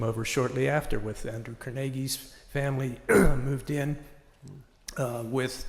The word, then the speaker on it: Carnegie: And it is Carnegie, not Carnegie, as so many other people pronounce.